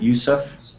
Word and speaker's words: Yusuf: And I am pronouncing your name properly, is that right? Yusuf?